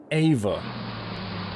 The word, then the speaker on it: Efa: EFA is a Welsh version of Eve or Eva, pronounced as Ava.